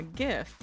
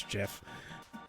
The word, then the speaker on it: GIF: and want to experience the old internet yeah gift that's what he said a gif GIF I